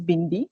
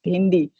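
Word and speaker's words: भिंडी: But our sound Uh-huh. of hey is a more, your pronunciation is bindi, so our pronunciation is bhindi.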